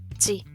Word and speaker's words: 時: Ese kanji se pronuncia ji. Entonces, cada vez que lo vemos con un número más ese ji, ya sabemos que van a estar hablando de las horas en punto.